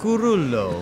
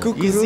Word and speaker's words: Cuccurullo: Cucurullo. Cucurullo.